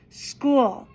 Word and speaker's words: school: And here the ch goes c school. So a lot of times phonetically kids will spell school s c o l or s k o l to make that sound school.